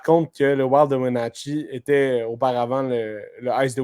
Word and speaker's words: Wenatchee: Ouais, d'ailleurs, à noter par contre que le Wild de Wenatchee était auparavant le Ice de Winnipeg.